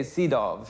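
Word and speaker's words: Sydow: names probably I mean you say seidov right V Von yeah you don't say we say seed well anyway in America they say maxan seal um but it's SE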